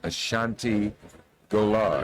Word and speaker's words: Ashanti Golar: We're going to hear about an organization called Emerge, and its president is with us, Ashanti Golar. Am I pronouncing that correctly?